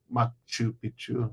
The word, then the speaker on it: Machu Picchu: Machu Picchu. Sorry, I got to pronounce it correctly because if you say it wrong, it means something completely different.